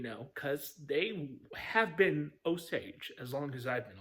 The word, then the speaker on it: Osage: They have not been Osagi. They've never been Osagi. You know, I'm sure there's somewhere over in Japan, it's probably pronounced ozagi, but in my part of the world, it's oage.